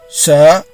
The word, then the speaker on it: she: SHE is pronounced as sir. The alphabet E following the leading combination SH requires you to open your mouth to pronounce the vowel E clearly to make the complex consonant-vowel combination form.